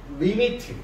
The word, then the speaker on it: lim: 극한의 기호는 LIM이라는 기호를 쓰고, 이걸 읽을 때는 리미트라고 읽어요. 자, 얘는 리미트, LIM을 리미트라고 하는데, 이 리미트는 뭐다?